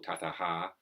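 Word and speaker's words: tataḥ: Tataha, so it's tatas or tataha, and before evaṃ, the anusvara at the end, with visaga, is it? I forget what the Sanskrit word is. The H with a dot underneath that's pronounced tataha.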